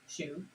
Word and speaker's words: choux: some choux pastry and it is spelt uh c-h-o-u-x shoe pastry and it is also